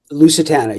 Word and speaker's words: Lusitana: Is that how you pronounce it? Lusitana, yeah.